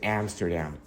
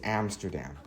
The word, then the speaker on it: Amsterdam: you pronounced was incorrect so the actual correct pronunciation of the Dutch capital is Amsterdam just so you know it's Amsterdam what is such climate like the Netherlands enjoy